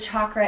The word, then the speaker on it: chakra: it right which is c a together in Sanskrit is cha and chakra so that's